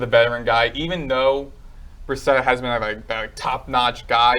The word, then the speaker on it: Brissett: Brissett.